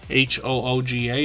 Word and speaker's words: hygge: what hygge means so that's how you pronounce this h-y-g-g-e-hooga h-o-o-g-a is kind of what we imagine it might look like um hookah Homestead talks about a cozy peaceful home and that's in Danish so we're learning something